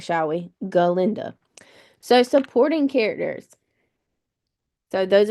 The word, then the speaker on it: Galinda: galinda let's say her name right shall we galinda so supporting characters so those are going to